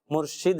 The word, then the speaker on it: مرشد: ہمیں مرشد بھی بولتے ہیں نا, ہمارے مرشد تو غلط ہے, مرشد تو درست تلفظ نہیں ہے, مرشد ہے.